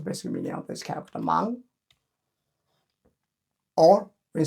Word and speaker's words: 芒: This máng, pronounced as máng, and this is also pronounced as máng.